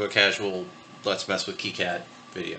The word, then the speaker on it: KiCad: casual let's mess with keycad video I think it's key yeah maybe it's kind of cat seems like keycat's the correct pronunciation anyway moving right along